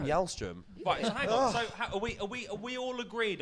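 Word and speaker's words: Källström: pronounce his name cuz not Kim calzone is Kim y'all strim we we we all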